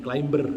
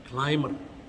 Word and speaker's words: climber: Bacanya bukan climber ya, meskipun ada B-nya tidak dibaca, climber.